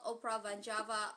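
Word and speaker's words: Opera Van Java: states Uh, it's called Oprah Vanjava. Oprah like Phantom of the Oprah. Van Van like Van Halen and Java like the island. J A VA. Okay. Oprah vanjava.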